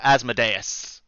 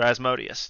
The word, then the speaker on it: Asmodeus: It was their older brother Asmodeus, or Asmodeus, depending on your pronunciation.